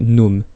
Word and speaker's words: GNOME: Donc c'est un environnement qui physiquement ressemble beaucoup donc à l'environnement GNOME 2, donc évidemment, enfin GNOME 2, pardon, excusez-moi, le G se prononce pas, hein, il y a